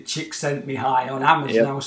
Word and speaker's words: Csikszentmihalyi: Yeah, I can remember seeing it actually spelled out phonetically. Chick sent me high on Amazon.